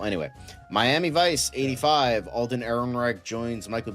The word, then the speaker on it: Ehrenreich: How do you say his last name? Ehrenreich. Ehrenreich. There you go.